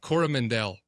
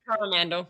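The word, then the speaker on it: Coromandel: mountain over there on Cormandal? Am I saying it right? I just saw a movie where they were like they called it Cora Corora Mandel. Cora Mandel. And I was like it's Cormandal.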